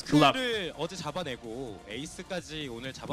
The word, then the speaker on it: GLuck: And 처음에는 글럭이 맞았는데 It used to be good luck, but 저희가 해설하면 now we changed it in a way and we clarified it, and it is pronounced and called as GLuck.